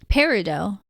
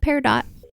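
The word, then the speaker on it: Peridot: really cute promise of parido by Kate golden parido yeah like the stone I looked it up and that's how you pronounce it that was par dot I think both are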